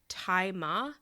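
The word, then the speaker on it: Tzi Ma: Anyway, I did want to say the guy who plays Billy's father, apparently it's pronounced Tai Ma.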